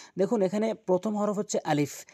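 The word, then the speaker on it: ا: দেখুন এখানে প্রথম হরফ হচ্ছে আলিফ। আলিফ উচ্চারণ করতে গেলে উপরের দাঁতগুলো নিচের ঠোঁটের উপরে রেখে এভাবে উচ্চারণ করতে হয়। আলিফ আলিফ আলিফ।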